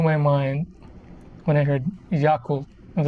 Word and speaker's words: Yakult: You just say it, you read it and say it as it is spelled, just Yakult. And it just kind of blew my mind when I heard Yakult.